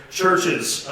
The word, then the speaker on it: CHVRCHES: band plugs on here, Churches, Scottish synth pop. It's spelled CHVRCHES. It's Churches with a V instead of a U.